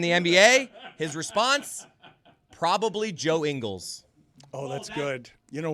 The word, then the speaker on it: Ingles: dad calls him Joe Ingles. Yeah, that's the way it should be pronounced. In Spanish or in English. Joe Ingles is exactly what it should be.